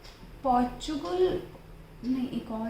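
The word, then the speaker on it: Portugal: पुर्तगाल। पुर्तगाल। मतलब हम इंडियन उसको ऐसे प्रोनाउंस करते हैं, but पोर्चुगल। otherwise it is not।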